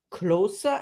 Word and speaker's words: Kloser: today's guest is closer and I hope I pronounced your name right yes it's got an Austrian background so yes it's closer like a relief pitcher in baseball oh that's great okay